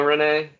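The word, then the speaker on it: Reneigh: Okay, I have Renee, but the It's Nay it's is R spelled E N E E. Yeah. the Nay is spelled Neigh like a horse, and she's a horse.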